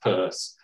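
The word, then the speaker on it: Peirce: look at charles saunders purse it looks like pierce but pronounced purse an american philosopher has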